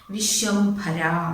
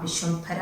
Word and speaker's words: വിശ്വംഭര: ഇനി വിശ്വംഭര എന്നൊക്കെ പറയുമ്പോൾ ഭ ഒക്കെ ഉറപ്പിച്ച് പറയാട്ടോ ഓരോ അക്ഷരത്തിനും ഉച്ചാരണം കറക്റ്റ് ആയിരിക്കണം കേട്ടോ വിശ്വംഭര വിശ്വംഭര എന്ന് വെച്ചാൽ ഭൂമി വിശ്വംഭര